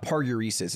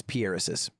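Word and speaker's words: paruresis: It's not parureses. It's pieresis.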